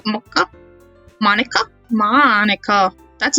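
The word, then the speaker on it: Monika: it sounds like you already know M Mo mocha mocha Monica Monica that's not even a Japanese name and I mispronounced it is that right that's right let's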